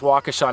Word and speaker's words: Waukesha: popped up off the map I know it's pronounced Waukesha now but at that time I didn't know